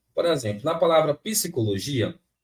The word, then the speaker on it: psicologia: tracinho aqui né Eh só que aí deixar esse P mudo gente pensa aqui comigo é só uma questão de lógica é psicologia psicologia né psicologia nesse caso aqui